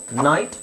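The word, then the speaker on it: knot: ಅಂತೀವಿ ಡೈ ಅಂದ್ರೆ ಎರಡು ಇಲ್ಲೂ ಅಷ್ಟೇ ಕೆ ಸೈಲೆಂಟ್ ಆಗುತ್ತೆ ಸೋ ಎರಡು ಅಕ್ಷರ ಇದೆ ಒಂದು ಉಚ್ಚಾರಣೆ ಇಲ್ಲಿ ಕೆ ಕೆ ಸೈಲೆಂಟ್ ಸೈಲೆಂಟ್ ಎರಡು ಅಕ್ಷರ ಇದೆ ಒಂದೇ ಉಚ್ಚಾರಣೆ ಹೇಳಬೇಕು ನ್ಯಾಕ್ ನೋ ನೈಟ್ ನಾಟ್ ನಿಟ್ ಹಾಗೆ ಟಿಎಚ್ ಟಿಎಚ್ ಬಂದಾಗ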